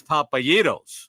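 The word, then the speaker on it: Papa Gyros: For Pete's sake, it's Papayitos.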